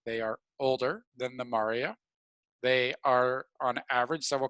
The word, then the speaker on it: maria: i'll throw around so we have the lunar maria i know it looks like maria but it's pronounced mari singular as mare and that is